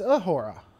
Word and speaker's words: Uhura: It's Uhura.